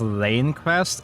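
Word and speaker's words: Lanecrest: It is lane crest. Oh, so I was saying it wrong before. It's lane as in Oz Lane.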